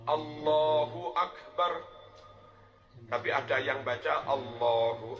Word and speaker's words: Allahu Akbar: bacanya enggak boleh salah beberapa contoh bacaan Takbir yang salah Allahu Akbar salah bar dibaca Allah dan maknanya beda Allah ak harusnya Allahu Akbar Allahu Akbar tapi ada yang baca